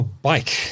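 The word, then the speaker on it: BAIC: Now, Bike, I think that's how you pronounce it. Not Bike. Bike. Bike. Yeah, I see. B A I C.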